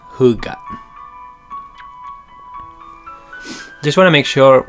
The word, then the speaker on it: hygge: h y g g e but it's pronounced who got just want to make sure buenos dias amy